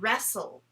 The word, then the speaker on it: wrestle: to kind of wrestle that's w-r-e-s-t-l-e so we have the s-t-l-e sound again the soul like whistle like wrestle so today as we're